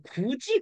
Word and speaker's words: 굳이: 요런 거죠. 굿, 이. 그러면 우리 이거 발음 어떻게 해? 야, 너 굳이 그렇게 해야 되겠냐? 이렇게 되죠. 한번 풀어볼까요? 기역, 우, 디귿, 이응 없죠? 이. 이놈 밑에 풀면 어떻게 돼? 기역, 우, 지읒, 이. 이렇게 되지.